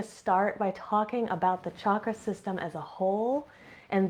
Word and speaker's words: chakra: It's a different letter that we don't have in English, and it presumes a hard CH sound. So if you hear me pronouncing it chakra, I'm just letting you know I learned this from my teachers.